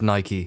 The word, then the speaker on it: Nike: for those of you who aren't aware it's pronounced Nike that's all right I'm getting all high and